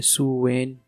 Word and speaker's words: Samhain: और आयरिश में इसे अलग अलग तरह से प्रोनाउंस किया जाता था, जैसे सुवेन, सुवीन और सोवेन।